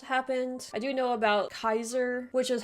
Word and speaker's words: Caesar: i do know about kaiser which is how you're supposed to actually pronounce it i think based on all of the scholars but in modern english we say caesar and i know about